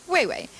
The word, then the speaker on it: Weiwei: Now I have people saying my name as Weiwei. And I'm like, no. My name is Weiwei. I'm very attached to that. Can you please just say it? Weiwei.